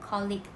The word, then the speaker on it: colleague: professional or business relationship it is commonly pronounced clicked by malaysians however the pronunciation is wrong so here is the video on how to pronounce the word colleague correctly and your colleague